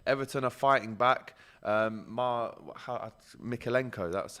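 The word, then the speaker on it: Mykolenko: almost but no everton are fighting back um mikhailenko that's how you say his name we scored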